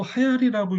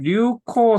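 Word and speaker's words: 流行: 예, 근데 보통 쓸 때 류코 쓰고 하야리는 이렇게 리를 이렇게 써주는 경우가 많습니다. 하야리. 아, 그러니까 하야루 해가지고 이렇게 동사니까 하야루 이렇게 그냥 류코라고 읽어도 되고 하야리라고 해도 됩니다. 예, 예.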